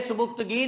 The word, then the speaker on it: सुबुक्तगीन: जी, बोलेंगे सुबुक्तगीन, लिखेंगे सुबिक्तिगिन, याद रख लें स्पेलिंग के लिए इसके, सुबिक्तिगिन।